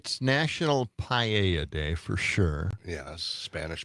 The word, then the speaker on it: paella: Is it National Spanish Paella Day? I think that's how that's pronounced.